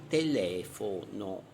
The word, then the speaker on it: telefono: Sdrucciole, l'accento cade sulla terzultima sillaba, esempio telefono.